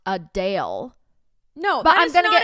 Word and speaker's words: Adele: several comments of people being like it's not puddell it's Adele I so anyway I I can't